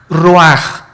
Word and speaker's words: ruach: Isaac Qué cosa el ruaj que se escribe r u a c h ruach en el hebreo y se pronuncia igual ruaj Aquí vemos que al